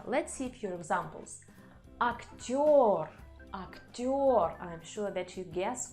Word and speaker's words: актёр: But there are letters in Russian language which always under stress, and this is letter yo. So if you see this letter, you can be sure that the stress is on this letter.